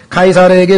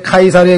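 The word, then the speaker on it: Caesar: 예 그래서 저라고 했는데요 영어로는 이라고 하는 영어 단어가 라틴어로 발음할 때는 K 발음이 됩니다 그래서 여러분도 아시는 것처럼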